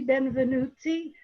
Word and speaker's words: Benvenutti: And her daughter is Jamie Benvenutti, who lives Yes, you got it right. What? Good job on the pronunciation.